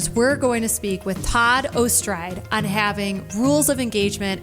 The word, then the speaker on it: Ortscheid: And our guest is the one and the only Todd Ortscheid. And I actually have only, is that the right pronunciation? I think you actually got it right there, Todd Ortscheid.